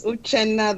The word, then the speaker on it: Uche: So it's Uche. The last name is. The N is silent.